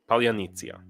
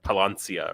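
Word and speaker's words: Паляниця: I noticed that John JP was struggling with it, like Palancia or something like that. That's an important word. If you're going to come to Ukraine, it's an important word that you should learn how to pronounce. Polyanitsia. It's that Y is like a yeet sound.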